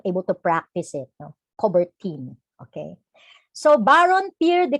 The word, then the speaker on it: Coubertin: And in 1894, the Honorable Pierre de Coubertin, I'm sorry, Pierre de Coubertin.